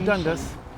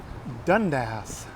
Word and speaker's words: Dundas: So I've been on the King streetcar, but the King streetcar goes up to, not Dundas, Dundas.